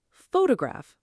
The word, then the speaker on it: photograph: For example, photograph versus photography. The word changes shape depending on stress. Photograph. Photography. Same letters, different stress, completely different sound.